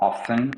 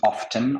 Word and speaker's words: often: Souvent, often ou often. En fait, often, c'est en américain et often, c'est en britannique. Les Britanniques prononcent le T alors que les Américains ne le font pas.